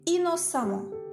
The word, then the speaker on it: innocemment: cet adjectif qualificatif et innocemment attention à la prononciation on écrit e double m ent mais on prononce amant ladver qui dérive de